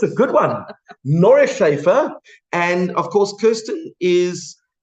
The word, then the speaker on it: Neuschafer: Did I pronounce it correctly? Or do you say Neuschafer? How do you say it? Neuschafer. Oh, it's a good one. Neuschafer.